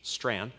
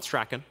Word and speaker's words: Strachan: the aforementioned strand family it's a scottish last name it's pronounced the minority pronunciation strand not stracken don't at me okay the strand family the other night